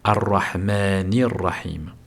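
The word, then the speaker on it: الرحمن الرحيم: Alors on va d'abord le le prononcer correctement. Arrahmanir. Arrahmanir. He ici nous avons une prolongation de deux temps naturel. Arahmanir et nous faisons la liaison arahmanirrahim.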